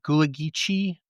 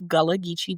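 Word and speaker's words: Gullah Geechee: Um, you work with Gulagichi. Did I say it wrong? I'm sorry. It's okay. Um, so I am of Galagichi descent.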